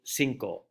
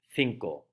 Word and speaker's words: cinco: at the number five to a mexican central american south american or caribbean inhabitant they will pronounce it cinco a spaniard will pronounce it finkel so as we go